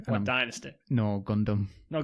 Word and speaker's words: Gundam: No, Gundam. No, Gundam, that's fine, yeah. Is that how you pronounce it?